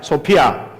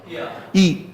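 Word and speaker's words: σοφία: 뭐냐 한번 따라 봐요 소파 소피아 따라해봐요 소피아 소피아이 원어의 발음으로 소피아라는 발음인데 여기에는 여러 가지 내용들이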